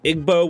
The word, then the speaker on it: Igbo: how to respawn has also confirmed he is igbo which i've actually looked up that is the correct pronunciation and that's an ethnic group largely concentrated